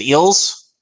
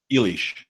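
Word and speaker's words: Illyes: Is it Eels or is it Isles? Do you remember? Elish. Elish. There you go. Wasn't even close, guys. Elish.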